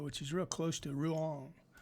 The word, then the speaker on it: Rouen: is real close to Rouen. I think that's how you say it, Rouen. Somebody knows how to speak French would be laughing at me, and my daughter would also.